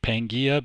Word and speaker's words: Pangaea: networks off into carrier finder and i say pangia because i had to ask phonetically how to pronounce it because i was